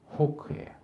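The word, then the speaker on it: חוק: 이게 이제 규례라 번역된 히브리 단어는 호크에 호크 영어 독수리 호크 그러기도 하는데 발음이 비슷해요 히브리어로 호크가 규레드이 호크는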